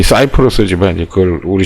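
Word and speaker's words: Cyprus: 키프로스 라고 아시는지 뭐 키프로스 라고 되어있는데 이 우리 식의 있는 거 발음이 고 그제 뭐 영어식으로 사이플러스 이렇게 사이프러스 이렇게 읽어야 된다 입니다 그래서 아 그럼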